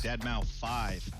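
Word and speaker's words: deadmau5: Dead mouth 5. Yes, that is the correct way to pronounce it.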